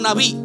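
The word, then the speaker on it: נביא: Es un término que se pronuncia como naví. Nabí en el Antiguo Testamento era un profeta.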